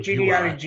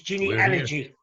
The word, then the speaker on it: genealogy: People are calling it genealogy. It's genealogy, not genealogy. Genealogy. Yeah. Like cod allergy.